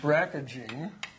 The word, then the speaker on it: BRCA: it BRC with a people pronounce it as if the a was there or there was an extra a there anyway so you take